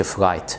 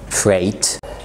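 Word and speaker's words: freight: الجي اتش لما بتبقى جايه بعد الاي، زي هاي لايت فلايت فريت، بس الاخيره دي ما تقولش فرايت يعني الشحن. فريت.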